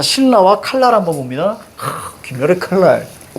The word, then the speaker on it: 신라: 자, 신라와 칼날 한번 봅니다. 김열의 칼날. 자, 신라 갑니다. 이거를 발음할 때, 신나 이렇게 발음하면 안 돼. 알겠죠? 신나 이렇게 발음하면 안 돼. 자, 이거 어떻게 발음해요? 그래요, 신라요.